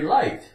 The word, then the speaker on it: light: office H it's very light it probably won't cost much for postage GH silent l i Li l i Li T light light change the L to